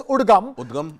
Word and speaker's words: UDGAM: the Reserve Bank of India has now set up a web service, a web portal called, it's pronounced, we can pronounce it as UDGAM.